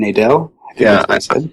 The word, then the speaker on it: Nadel: yeah all these years in my head I was pronouncing it wrong and I feel bad